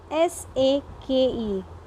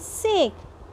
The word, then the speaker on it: sake: And this word, children, S-A-K-E. Though in an English we pronounce it as sake, but it is a Japanese word, and here it is pronounced as sake, which means a popular Japanese drink.